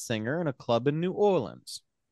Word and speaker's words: New Orleans: in a club in New Orleans. It's pronounced Nolans.